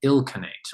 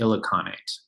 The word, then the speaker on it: Ilkhanate: the Byzantine Empire and the Ilkhanate, or the Ilkhanate. I've been mispronouncing it.